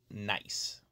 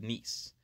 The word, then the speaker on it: Nice: nice spelled as if you would say it nice but it's pronounced nice on our fourth day we'll leave France and